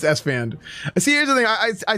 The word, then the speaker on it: Esfand: Is it Esfand or Esfond? Yeah, well, he doesn't know how to pronounce my name, but yeah, it's Esfand.